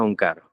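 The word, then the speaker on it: ੴ: Se pronuncia Onkar y representa todo el poder del universo controlado por Dios.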